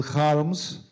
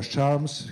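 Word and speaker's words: Kharms: very much by daniel harms or charms he's pronounced in different ways but it is incredible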